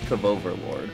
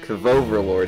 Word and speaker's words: KV Overlord: It's pronounced Kavoverlord. Kavoverlord, excuse me. It's very important.